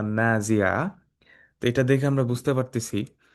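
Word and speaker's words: نازعات: এই জন্য দেখবেন এই যে মাদগুলা রয়েছে, এই যে আলিফ, আলিফ এইগুলা যদি আমরা না উচ্চারণ করি, না টানি, তাহলে অর্থটা কিন্তু চেঞ্জ হয়ে যাবে।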